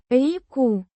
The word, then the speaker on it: реку: Pronounced Реку. with a soft and the stress on the first syllable, putting it together.